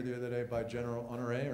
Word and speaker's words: Honoré: Anybody see the op-ed in the New York Times either today or the other day by General Honoré, right? Yeah. Is that how you pronounce his name?